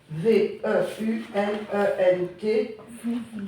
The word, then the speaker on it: veulent: Attention comment tu prononces puisque tu as tu as c'est écrit avec il ou elle v e u l e n t ne dis pas en c'est un verbe.